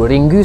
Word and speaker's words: Ringu: Il faut citer ici une majorité du cinéma asiatique, le plus connu d'entre eux étant Ring ou Ringu selon la prononciation nippone.